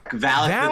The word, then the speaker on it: Valak: Is it Valak the Defiler? It's Valak the Defiler.